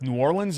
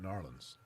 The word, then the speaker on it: New Orleans: No, it's not New Orleans. That's the wrong pronunciation. Do you say New Orleans? New Orleans. I just said it. So you say Linz. I say it correctly. Yes, New Orleans. You don't. New Orleans, Louisiana. You don't pronounce the E.